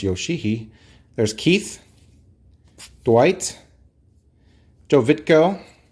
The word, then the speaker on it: Yoshii: Masato Yoshii. Remember, it's spelled with 2 I's at the end, so it's Yoshii, although you want to just call him Yoshi when I was a kid.